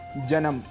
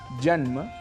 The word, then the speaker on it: जन्म: शुद्ध उच्चारण है गणपति इसी प्रकार कहीं-कहीं हम स्वरों को जोड़ भी देते हैं जैसे जन्म जैसे कर्म जैसे धर्म जबकि इनके शुद्ध उच्चारण हैं जन्म धर्म और कर्म ऐसे ही उच्चारण को